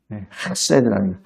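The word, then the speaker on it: חֶסֶד: 제가 왜 발음을 이렇게 하냐면 격음이에요. 핫세드라는 이 목에서 나오는 핫세드입니다. 이게 좀 더럽게 표현할 때 가래침 뱉을 때 하는 제가 그 배울 때 그렇게 했어요. 핫세드.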